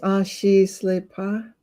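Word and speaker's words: Ah-shi-sle-pah: It's pronounced Ashi Slepa.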